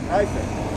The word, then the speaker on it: Triumph: Como é que se pronuncia, Richard? É Triumph? Como é que é? Triumph.